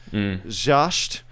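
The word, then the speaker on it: Zschaetzsch: The scholars Carl George Jascht, this is a hard German name to pronounce. Jascht.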